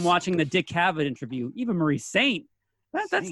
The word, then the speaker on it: Eva Marie Saint: by Lloyd Cole and the Commotions, and he pronounces it Eve Marie Saint. So here I am thinking it's this lofty French pronunciation. Then I'm watching the Dick Cavett interview. Eva Marie Saint.